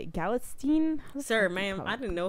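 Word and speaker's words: Galitzine: Galatstein? Sir, ma'am, I didn't know his name. Galatzine.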